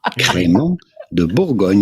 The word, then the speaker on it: Crémant de Bourgogne: La Boygunde, la creme caramonte. I think we have the correct pronunciation queued up here for you. Crémant de Bourgogne.